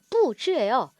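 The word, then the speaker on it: 布置: 얘가 이제 발음이 뿌즈예요.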